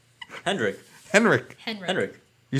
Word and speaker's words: Henrik: Hedrick? Hendrik. Henrik.